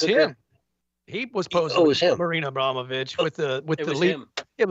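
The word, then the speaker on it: Abramović: way she lik lies her pronunciation of her name to be Marina aboit that's what she that's what she says is the real pronunciation name abrama witch and so I guess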